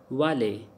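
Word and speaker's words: valet: like A, low pitch, like vale. Because T is silent in the vale, so you can see when ET is coming, so it pronounced like A.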